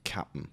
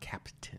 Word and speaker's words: Cap'n: I'm led to believe it is pronounced Cap'n It's Crunch Cap'n. as well. Yes, not Captain.